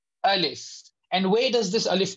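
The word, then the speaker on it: ألف: Alif is pronounced like that. Alif, Alif, Alif, Alif. It has got fa at the end.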